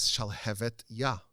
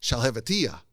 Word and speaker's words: Shalhevet Yah: The name of the book is Shalhevet Yah, which means the flame of God. And everyone would mispronounce it as Shalhevetiyah, which means nothing, which is just gibberish.